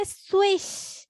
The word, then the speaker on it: swish: এটা উচ্চারণ করতে হবে swish, swish, ঠিক আছে? Swish, swish, swish. আমরা যেমন সুইচ শব্দটা বলি না, যে ফ্যান লাইটের সুইচটা অন করো, হ্যাঁ, চয়ের বদলে শটা লাস্টে বলবা, swish, swish, swish, swish, swish, swish, ঠিক আছে?